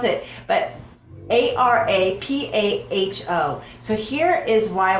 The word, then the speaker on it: Arapaho: Park, I'm gonna butcher this the way it's pronounced, was Arapaho. If you know how to pronounce it, I would love if you like left me a message and say this is how you pronounce it. But Arapaho.